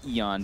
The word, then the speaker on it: Aeon: Aeon discs. Or, sorry, Eon discs. Eon. Eon. Can we get the pronunciation Radiant's correct?